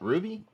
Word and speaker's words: RWBY: Red versus Blue, Ruby, stuff like that. So shout out to Rooster Teeth. Is that how you pronounce that? Ruby? Yeah, RWBY. It's Ruby. Yeah.